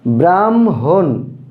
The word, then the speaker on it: ব্রাহ্মণ: এটা উদাহরণ যদি আমরা নেই, তাহলে ব্রাহ্মণ, ব্রাহ্মণ, এটার উচ্চারণটা কিন্তু ব্রাহ্মণ, অনেকে আমরা ব্রাহ্মণ বলি, ব্রাহ্মণ উচ্চারণটা ভুল, আসলে